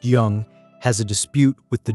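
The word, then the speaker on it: Zheng: A mid-sized state called Jung, pronounced Young, has a dispute with the Joe king.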